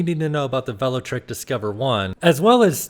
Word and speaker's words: Velotric: and a quick side note the brand is pronounced Vel trick and not vot trick I pronounced it wrong a couple times in